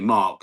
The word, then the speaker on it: Mark: It's like they don't say Mark. It's Mac.